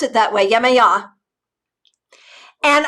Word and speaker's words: Yamaha: pronounced it that way yamaha and i looked it up today and got like three different audio references that put the syllable uh the hearts the accent in the middle so it depends yamaha anyway she never said